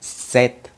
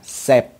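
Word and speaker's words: sept: Rồi cái số 7 nó có chữ P, nhưng mà chữ P đó người ta không có đọc. Chúng ta sẽ nói là set, set. Chúng ta không có nói là sep, sep sai.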